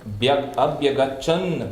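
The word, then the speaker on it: अभ्यगच्छन्: So here we have in the grammar, there is the T at the end, but when you join two words for the easier pronunciation, this T becomes N.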